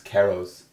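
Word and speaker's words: Queiroz: no, don't pronounce the U. It's Keros.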